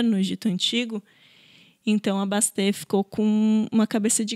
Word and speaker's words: Bastet: figura que é a Bastê. Acho que é assim que se pronuncia, né? O T talvez seja mudo, mas se escreve Bastet.